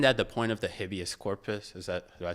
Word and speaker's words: habeas corpus: But isn't that the point of the habeas corpus?